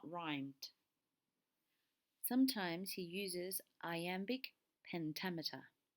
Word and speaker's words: iambic: Sometimes he uses iambic pentameter. Iambic is the rhythm that goes da-da, da-da, da-da, da-da, where the emphasis is on the second syllable.